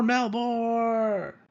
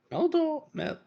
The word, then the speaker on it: Meldor: Give it up for Melbor. I'm sorry, Meldor.